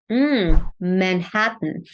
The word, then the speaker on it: Manhattan: man Manhattan yeah okay so we have three syllables here right man and hat three different syllables uh and we have the a as in cat that I talked about two times actually so the word man that's the a as in cat open your mouth a lot so we